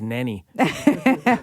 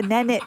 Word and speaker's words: Nanit: I monitor the babies I think it's pronounced Nanny no it's a nanit oh a nanit uh and it's a